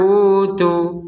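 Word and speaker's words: أُوتُوا: Kalau berhenti di utu, maka tu-nya ini panjangnya dua harokat. Misalkan gak kuat, misalkan bersin, batuk yang tidak tertahankan, maka berhentinya di utu, maka panjang dari tu ini adalah dua harokat. Wa innal ladzina utu. Nah, seperti itu. Panjang dua harokat.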